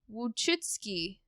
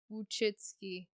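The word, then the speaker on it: Wojcicki: i was oh good it is pronounceable uchitsky it's spelled it's spelled w-o-j-c-i-c-k-i which actually is not as unpronounceable as i was making it out to be uchitsky i'll remember that i will not holy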